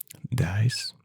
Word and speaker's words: dice: Dice. In Spanish, the pronunciation is dice.